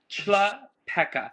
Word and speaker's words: Chlapeka: It's Chrissy Chlapeka. It's like a Shlapeka, okay. Chlapeka.